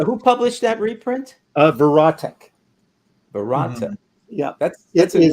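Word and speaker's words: Verotik: stuff before so who published that reprint uh verat verat yeah that's that's a one for me it's spelled v e r o t i k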